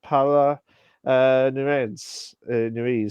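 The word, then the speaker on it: Paola Núñez: Uh, Adeline Rudolph and Paula Nuez, as actually pronounced it.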